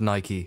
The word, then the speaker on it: Nike: for those of you who aren't aware it's pronounced Nike that's right I'm getting all high and mighty